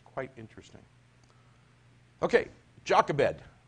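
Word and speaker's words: Jochebed: it's quite interesting okay jakka bed or yoga bed as it's correctly pronounced that's mama if you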